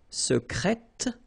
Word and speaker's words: secrète: Secret, secrète, secrètement. Okay, so I tend to insist a little bit on it just to make you hear the difference between the masculine. Secret, secrète. Okay, you're pronouncing the T.